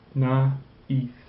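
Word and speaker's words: naïve: a sound okay now the word naive this tra says don't pronounce those together like we do here we pronounce the a separately so therefore we pronounce na e na okay likewise this word you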